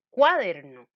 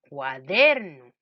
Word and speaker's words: cuaderno: que no tiene tilde veamos dónde suena el acento de la palabra cuaderno si yo le pongo cuaderno el acento en la sílaba vamos a ver yo diría cuaderno no no me suena vamos a ver si le pongo el acento en la sílaba de er entonces yo digo cuaderno me suena vamos a ver probemos